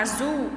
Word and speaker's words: azul: Na palavra azul, a sílaba tônica é a última, que está grifada aí, o zul.